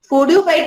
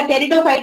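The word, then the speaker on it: pteridophyte: फोर्डियोफाइट नहीं होगा, टेरिडोफाइट होगा. देखो स्पेल करो उसे. टेरिडोफाइट है? Yes, ma'am. वही है. Yes ma'am. है ना? पी बेटा, पी साइलेंट हो गई है ना?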